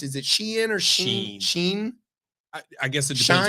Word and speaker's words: Shein: Is it Shein or Sheen? Sheen? I guess it depends Shine? on who you are. No, it's not Shine.